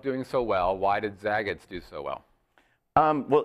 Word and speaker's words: Zagat: so well why did Zagats do so well um well Zagat first of all it it rhymes with the cat okay you can remember